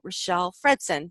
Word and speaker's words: Richelle Fredson: And I am excited today to talk to Richelle Fredson. Did I pronounce that right?